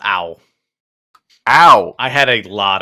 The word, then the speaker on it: Ao: It's pronounced Owl.